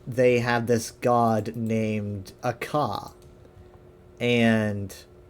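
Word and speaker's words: Akha: Akka is he sounds like dragon, doesn't he? Because Akka is dragon in Elvish, but that is his name, but it's spelled a bit differently. It has an H.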